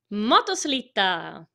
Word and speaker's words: motoslitta: Motoslitta.